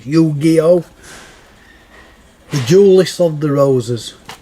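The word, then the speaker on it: Yu-Gi-Oh!: games are this is i used to pronounce it eugeo uh but as usual i've been pronouncing wrong you gio the duelist of the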